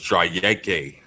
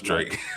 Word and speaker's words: Drake: Tell me his name is pronounced Drake Bowen. It's Drayeke. Yeah, I wouldn't surprise me. No, it's Drake. I was like, well, there's not even an E on the end of it, so that's a little odd.